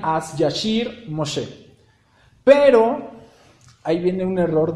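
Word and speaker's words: אז ישיר משה: En hebreo, esas palabras, lo que acabamos de ver en español, en hebreo se pronunciarían As Yashir Moshe.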